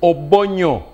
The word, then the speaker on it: Obonyo: Some people have a problem pronouncing that name. It is Obonyo, O-B-O-N-Y-O.